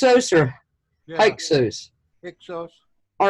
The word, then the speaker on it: Hyksos: since they kicked out the how do you pronounce it Hicks Oh sir Hyksos all right the Hyksos had been kicked out